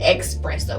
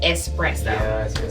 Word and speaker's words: espresso: So, I said expressto with a E X. Yeah. Yeah. Instead of espresso.